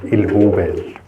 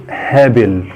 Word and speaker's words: هابل: يعني احنا معرفش بقى احنا نطقنا غلط هو في الطبيعي ان هي اسمها سلاله هابل سلاله هابل دي بقى احنا هنتكلم عنها النهارده في الفيديو بتاعنا اللي هي سلاله الهبال طيب هي ليه اتسمت هب او طبعا الاسم العلمي بقى بتاعها اللي هو الهابل هابل اللي هو بالانجليزي اش يو دبل بي اي دبل ال دي بتتنطق هابل طيب هي ليه اتسمت